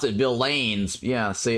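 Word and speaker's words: villeins: a second Lords and V villains some people pronounce it vaines yeah see it's um Bill uh Bill Lins so if you if you look it up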